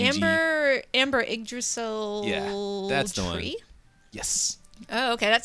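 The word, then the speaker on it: Yggdrasil: again the Amber yasel uh I may be pronouncing that wrong it's y g Amber Amber igdrasil tree yes oh okay that sounds very important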